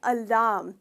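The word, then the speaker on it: alarm: इसका सही प्रोनाउंसिएशन है अलार्म। इसमें र का साउंड नहीं होता है।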